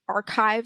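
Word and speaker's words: arXiv: repository that's subject specific like archive spelled with an x or bio archive spelled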